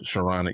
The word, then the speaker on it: Charania: I You just really butchered can't the pronounce his man's name. name. Skarnakia, Sharana.